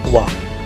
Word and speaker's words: walk: वॉक, WALK L silent है, वॉक.